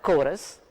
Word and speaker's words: chorus: Now, the word chorus begins with the letters CH, is pronounced as K, while the word church,